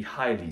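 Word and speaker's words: hyle: Because we could talk about also the alchemical process of the Healy, the Highly, spelled with an Y. High, H-Y-L-E.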